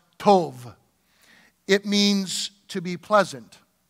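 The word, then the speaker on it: טוב: that surely goodness goodness the word goodness in the hebrew is pronounced tov it means to be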